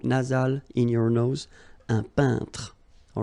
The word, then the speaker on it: peintre: Un peintre. So remember when you get this E-I-N together here, then you pronounce this un sound. So nasal in your nose, un peintre.